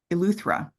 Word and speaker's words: Eleuthera: You, it's Eleuthera in the Bahamas.